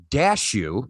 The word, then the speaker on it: Dashu: But starring Jeremy Ninaber, Ethan Mitchell, Kristen Caster, Matthew Ninaber, Matt Dashu, said like cashew.